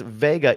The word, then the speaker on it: Wega: it's pronounced Vega, even though it's spelled Wega.